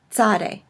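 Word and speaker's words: צ: to in that it combines two consonants in English kind of a TS sound as in cats so it's a Sade sir-sir Sade it also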